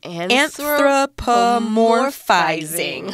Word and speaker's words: anthropomorphizing: Anthropomorphizing. Okay. Yeah. All right. You can count it out with your syllables there. Anthropomorphizing. 6 syllables.